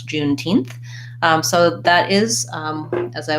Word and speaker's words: Juneteenth: for numbers for example Juneteenth from June 19th and not 19th 19th and when I'm saying that June 19th I stressed June and my main stress is on teeth so it sounds like